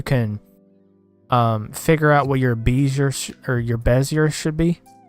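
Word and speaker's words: Bézier: Like, they've even got animations, and you set like your Bezier, I think is how you pronounce it, or Bezier. I think it's Bezier.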